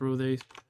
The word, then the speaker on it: rothe: 19 dwarves, 3 homunculi, 4 kobold lords, 3 kobold shamans, 30 hill orcs, 19 rothes or rose. I think they're pronounced rothes.